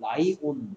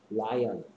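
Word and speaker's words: lion: 그 다음에 니은은 닫힌 니은은 L 됐고 어떤 사람들은 그래서 이걸 라이온, 라이온 하는 사람도 있어. 라이온. 원래 발음은 라이언. 근데 라이온이라고 하는 사람도 있더라.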